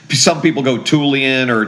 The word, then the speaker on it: Tullian: in all my growing up years that chigan rhymes with religion sometimes that helps people chig so it's tulan some people go tulan or tlian or you know whatever but it's tulan um and chigan and for for whatever reason